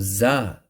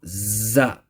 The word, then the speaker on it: ز: called sanaya sufla now the makhrach of za is such that za's pronounced with the tip of the tongue see this tip of the tongue touching the edges of sanaya souffle see these two teeth